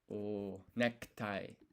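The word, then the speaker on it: ネクタイ: Tie is necktie. So that's going to be katakana again. Necktie. Necktie. So this ku here, that's also kind of a silent U once again.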